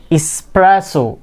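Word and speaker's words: espresso: তো সেম কাহিনীটাই নিচের ওয়ার্ড, অনেকে কি বলে থাকে এক্সকেপ, এখানে কি, এখানেও কি এক্স নেই, কি আছে এস, ইসপ্রেসো, ইসপ্রেসো, ইসপ্রেসো।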